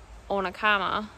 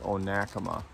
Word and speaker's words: Onekama: is our first like official day and not onakama what's it called oh nakama oh nakama we've